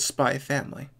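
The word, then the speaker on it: SPY×FAMILY: on the internets about whether or not you pronounce the x in spy x family or if it's just spy family kind of like how it's just hunter hunter now technically it's supposed to be just called spy family however you pronounce it spy family because you're correct i pronounce the x because it sounds better we are not the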